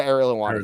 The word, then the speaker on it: Ariel Helwani: him and uh what Ariel how do you pronounce his name AR is it Ariel Ariel Ariel helani yeah Ariel helwani he's very jealous of Ariel helwani well yeah